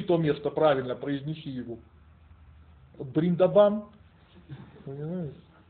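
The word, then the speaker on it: Вриндаван: Бриндабан. Понимаете? А его именно так произносят. Да, просто никто не знает. То есть они В как Б произносят, да? Бриндабан.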